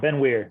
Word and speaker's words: Ben Weir: Yep, Ben Weir. Yep, like Mike Weir, Bob Weir, the golfer, the Grateful Dead. However you want to remember it. It's just weird without the D.